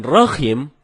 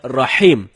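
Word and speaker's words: رحيم: Sedangkan rahim artinya maha merdu. Bacaan yang benarnya insya Allah dengan huruf H. H dalam tenggorokan. Jadinya rahim, bukan rahim.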